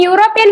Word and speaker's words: European: Here E is silent.